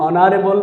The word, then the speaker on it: honorable: An honest man, an honest man, an honorable man, honorable man, okay, H অনুচ্চারিত, an AR, an honest man, an honorable man, an hour.